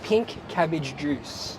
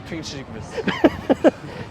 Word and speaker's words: Pinkavichus: They really got pink cabbage juice. Pink cabbage That's juice. how you pronounce it. I always just thought it was pink chicken. Just think of pink cabbage juice.